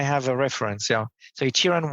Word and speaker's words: Shiran: name by the way how do I properly pronounce it so um shiran right you know Chiran yes so shiran and now I have a reference yeah so Chiran because that's not what I would